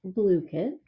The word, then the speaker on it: Blooket: that they had so I've been calling it booked but it is pronounced blue kid uh this is akin to gimkit and kahoot